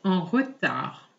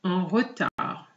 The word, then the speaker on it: en retard: Je suis en retard. Je suis en retard. Please note that the D is silent. Je suis en retard.